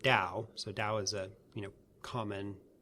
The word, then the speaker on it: Dao: And in the Wade-Giles system, the T is pronounced as a D. Okay. So you'd spell the word Dao.